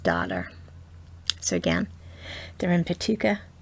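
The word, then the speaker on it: Paducah: so again they're in petuka paduka kentucky sometimes i put an extra syllable in there i have no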